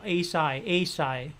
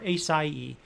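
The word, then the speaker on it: açaí: and the um that a what is it a psy is how you pronounce it or acai acai uh it's kind of like a a fruity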